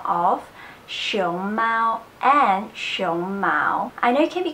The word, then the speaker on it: 胸毛: see it's very different so as you can see that show mo its second tone and first on and show Mao its first time and second time so it's actually just